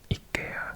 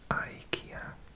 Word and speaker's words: IKEA: I'm pronouncing it IKEA because I think that's Swedish, but we say IKEA.